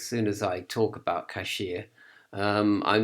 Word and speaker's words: K'ShIA: to to obtain cashier cashier as I pronounce it cashier and so it is